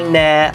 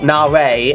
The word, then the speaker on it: Nare: Armenia, the hosts, but I must admit, Dance by Nair, or Nare, I think it's pronounced Nare, my apologies, but I do like this number.